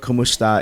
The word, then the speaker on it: kumusta: that don't know what kumusta is it's a greeting of basically saying hello but it is phonetically similar to Kom esta which goes back to